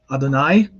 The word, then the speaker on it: Adonai: Now, in the Hebrew tradition, of course, this is simply pronounced as Adonai, or sometimes it's called Hashem.